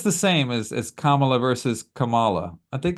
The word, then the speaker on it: Kamala: And I tell you what, it probably wasn't until this debate where it finally stuck in my head that it's Kamala. Yeah. Yeah. Like I would mispronounce it quite often because it's uncommon, but I Right.